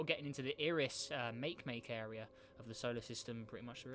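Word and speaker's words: Makemake: getting into the iris make make area of the solar system pretty much really pretty far out or mace mackay that's how you say it so yeah object d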